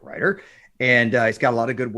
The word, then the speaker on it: Reuter: That's spelled Reuter. Always have to say that because it sounds like Ryder.